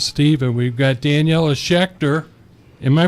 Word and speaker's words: Schächter: Louis Steve, and we've got Daniela Schächter. Am I pronouncing that good enough? That's perfect. Thank you. Let me hear how you say it, though. Schächter. Ooh, yeah, that's more of a hard K there.